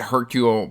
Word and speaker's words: Hercule: um like I said Hercule pro row I said the last name correct and then I got like I got a bunch of comments like you don't pronounce the h i can't get it